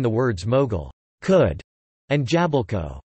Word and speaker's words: jabłko: For example, the L in the words mogul, could, and jabalko, apple, might be omitted in ordinary speech, leading to the pronunciations muck and japko or jabko.